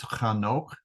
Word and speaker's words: Enoch: we come to uh Enoch his son and Enoch lived 65 years and begot matusalach Methuselah so uh Enoch's name is actually pronounced like with a CH sound at the beginning I don't really know